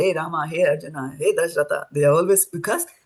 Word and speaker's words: Arjuna: do that and So in Sanskrit Arjun is Arjuna because Arjun in your in the Bhagat Gita you will see that written like that.